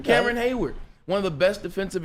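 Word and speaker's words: Cameron Heyward: Or Casey Hayward, excuse me. It's not Casey, but Cameron. I said it right his first name. Cameron Hayward, one of the best defensive interiors.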